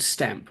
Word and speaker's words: Stannp: One thing, so there's a company called Stamp, which is spelled STANNP, N for November, and they do the automated sending out of postcards.